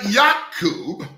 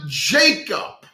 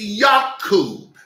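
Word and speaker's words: Yaakov: verse number one and yakob or Jacob went on went on his way now wait a minute now there's no J in the Hebrew alphabet so it's not Jacob it's yakob the name of of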